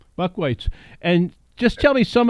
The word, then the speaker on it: Buchweitz: how do you say your last name Buck whites Buck whites and just tell me some of your you're